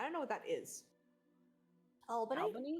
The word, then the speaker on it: Albany: how do you guys pronounce Albany. this? pronounce what? And Wait, then In, repeat that. D&D crew? I don't know what that is. Albany?